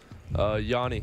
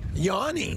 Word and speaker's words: Yanni: Yanni. Yanni. Yeah. That's close, Petey. J's silent. The J is silent, like yogging.